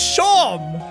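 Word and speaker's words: Seam: are legendary about yourself the names seem pronounced shot Oh your name's Shawn it's like Shawn I've had it so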